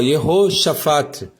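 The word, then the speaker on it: יהושפט: o nome Josafá, ó, Yehoshafat. Então todos começam com Yeho, tem um Shevá, é um E, som de E.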